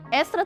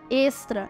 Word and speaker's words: extra: muitos falam por aí Extra tem um som de acento circunflexo e não de Agudo ou seja extra e não Extra por fim ninguém explica